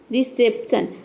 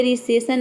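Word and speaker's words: reception: है यहां पे देखिए रिसेप्शन रिसेप्शन में हम प को प्रोनाउंस करते हैं यहां पे रिसेशन नहीं बोल सकते ठीक है अगर यहां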